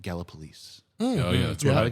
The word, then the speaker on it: Gallipolis: No, he's from, let me pronounce it right, Gallipolis.